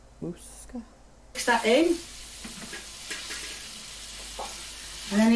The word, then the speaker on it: Moussaka: I don't even remember how she pronounced it. Moussaka? Moussaka.